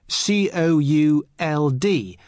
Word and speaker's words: could: listen to the pronunciation could could you spell it c-o-u-l-d but the letter L is silent could now listen to the